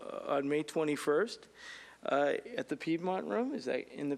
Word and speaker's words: Piedmont: At the Piedmont Room. Is that in the Piedmont Room? Is that correct? It's pronounced Piemonte.